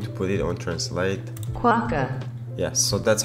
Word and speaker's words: Quokka: Quokka.